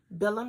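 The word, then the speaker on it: Bilum: it's billum I'm pron I'm pronouncing it the way it's spelled b i l u m billum Yarns and this is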